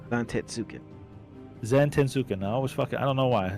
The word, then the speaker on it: Zantetsuken: I always have problems fucking pronouncing that move with Zensuken. Yeah, Zensuken. How to say it again? Zantetsuken.